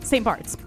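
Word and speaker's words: St. Barths: No, it's um St. Barts. Um, but it's spelled B A R T Hs.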